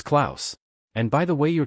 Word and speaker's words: Klaus: Dot uh Claus Cloth KL- Noel mispronounced, "It's Claus.